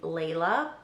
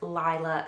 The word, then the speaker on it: Lyla: In a previous video, I think I pronounced their name Lay-la, but I’m pretty sure it’s Li-la Sage.